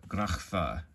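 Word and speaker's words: Graph: it's spelled G-R-A-P-H, but it makes the grachfa sound, okay? And that C-H I'm using, it's not the ch sound, it's the ch sound, like you might hear in German or Hebrew or other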